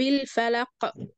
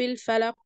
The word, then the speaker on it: الفلق: قل اعوذ برب الفلق، حرف القاف احنا وقفنا عليه لان احنا لازم نقف عليه، فلما نيجي ننطقه بنسكن الحرف ده، ولما نيجي نسكنه بنعمل له ايه، ذبذبة. يعني بنقول ايه، ما ينفعش مثلا اقول ايه قل اعوذ برب الفلق، حرف القاف مش هيتسمع كده، لكن لازم اعمل له